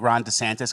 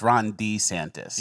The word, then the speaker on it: DeSantis: the next two years wow so you think Ron DeSantis can handle that or I'm sorry Ron D santis it's he doesn't like when he pronounced it wrong it's Ron D santis yeah I've heard that yeah he doesn't like